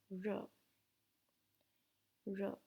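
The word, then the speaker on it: 日: about the sunny and in Chinese it is pronounced as row row and it is written in this chapter so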